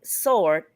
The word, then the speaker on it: sword: One is instead of saying sword, SWRD, they call it a sword when the W is silent.